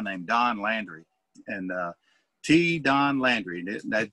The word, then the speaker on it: T-Don: don landry and uh t don landry that they spell that t-e-e so it's t-don like little don and uh don landry